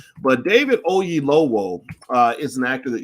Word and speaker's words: Oyelowo: his name right because i don't want to mispronounce the brother's name but david ogie lowell uh is an actor that you've seen a